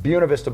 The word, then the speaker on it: Buena Vista: So what I did was I filled one out purely for this property in Buena Vista, pronounced Buena Vista by the locals.